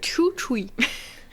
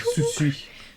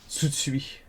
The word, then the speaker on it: Tsutsui: Taishi Chuchui. Non, c'est Tsutsui. Chuchui. Tsutsui.